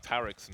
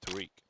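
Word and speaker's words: Tarik: Just like Tarek's name is actually pronounced Tariq.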